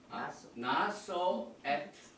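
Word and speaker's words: נשא: 인구를 수를 새라 그래서 다시 한번 합니다 나소 베네 아 이렇게 발음을 합니다 오늘 우리가 토라를 공부할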